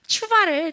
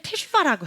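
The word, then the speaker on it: תשובה: 너는 왜 추바를 테슈바라고 해? 가전쌤이 그렇게 얘기하더라고요. 추바인데 왜 너는 테슈바라고 해? 라고 이렇게 하시더라고요. 네. 근데 이거는 한국 자료에는 잘 없어가지고 몰랐는데 실제적으로 읽을 때는 원래 아직 배우지 않은 모음이지만 어쨌든 이 모음과 이렇게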